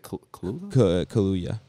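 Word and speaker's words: Kaluuya: maybe yeah probably and daniel how do you pronounce that is it kaluya kaluya yeah gotcha so he's on here twice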